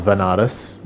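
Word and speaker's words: Benares: ended up going to Banaras which is a place in in India sometimes pronounced as venares which is a place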